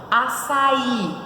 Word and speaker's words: açaí: muito é isso aí açaí como que separa a sai a saída para em três ela é o que é trissílaba em qual a posição da sílaba tônica na última oxítona açaí e qual é